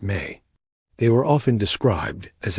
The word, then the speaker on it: me: His legacy is tied to one of the most fascinating and mysterious concepts in all of Sumerian thought, the sacred me, pronounced may.